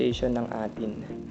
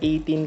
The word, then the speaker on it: A'tin: my live chat who told me, 'Kuya, it's pronounced 'eighteen'' Shoutout to the 'EY TEEN' community So many thanks to Ma'am Olive Arellano